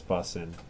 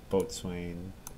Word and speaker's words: boatswain: was triggering him that I was saying boatswain which is the way it's written but not the way it is pronounced I guess correctly what's my first